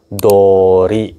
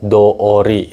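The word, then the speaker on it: どおり: partikel no juga bisa tapi bukan to Ori lagi bacanya Dori gitu minasang oke do ori ya kanjinya Sama aja cuman bacanya jadi tengteng aja gitu Minang artinya adalah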